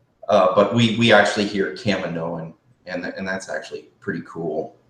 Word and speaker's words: Kaminoan: i first heard Kaminoan because i used to pronounce it kamini but we actually hear a Kaminoan and that's actually pretty cool so as we